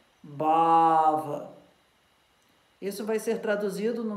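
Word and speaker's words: bhāva: Então, a palavra é BH, A com tracinho em cima, VA. Isso se pronuncia como Bava.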